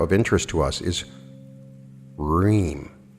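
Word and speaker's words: hrim: interest to us is ream spelled h-r-i-m but pronounced r-h-e-e-m again the proper intonation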